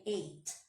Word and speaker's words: ate: Observem que a pronúncia do verbo eat no passado é muito igual ao número 8. I ate.